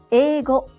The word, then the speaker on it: 英語: 英語 English 英語英語 The part of ei is pronounced as e.